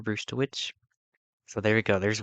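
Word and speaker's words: Brzustewicz: It's Hunter Brewster. I'm pretty sure I'm saying that correctly. Hunter Bruce the witch.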